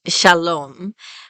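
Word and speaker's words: שלום: one the meaning of peace is almost always pronounced Shalom and it's sometimes written with the VAV and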